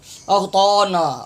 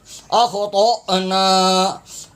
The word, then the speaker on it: اخطأنا: اکثر حضرات یہ تلفظ انتہائی غلط پڑھتے ہیں، اغطانا اغطانا، طال زبر طا پڑھ رہے ہوتے ہیں، یہ طال زبر طا نہیں ہے، طال زبر طا، طال زبر طا، اخطأنا اخطأنا، ربنا ولا تحمل، ہا